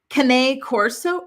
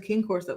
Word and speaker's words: Cane Corso: Cane Corso. Really? I thought it was King Corso. They're Italian dogs. Cane. Like cannoli? Like that?